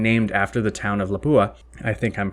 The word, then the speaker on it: Lapua: founded in and named after the town of lapua i think i'm pronouncing that right and this group this lapua